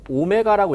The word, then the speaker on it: 오메가: 끝에가 이렇게 오므라져 있어요 읽을 때는 오메가라고 읽어요 뭐라고 읽는다 오메가 음자 지금부터 각속도의 개념은 오메가